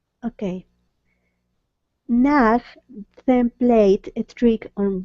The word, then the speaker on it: Nag: And so when you see the word nag, just really try to pronounce nag with a g.